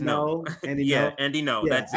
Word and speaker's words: Ngo: Yeah, when it's Asian, it's an Asian word, NGO. Yeah. But when you pronounce it in English, it's just no.